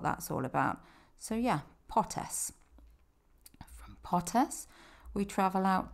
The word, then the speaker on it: Potes: go in Los Picos, which is Potes. It's not Potes, it's not Potes. There are no Z's in Spanish. Well, there are Z's, but they're not pronounced as a hard Z like we do in English.